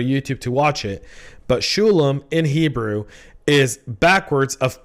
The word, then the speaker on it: Sholom: Like Sholom, it's not that hard. Most people say it wrong anyway. Shalom is good. A lot of people go with that. Shalom also works.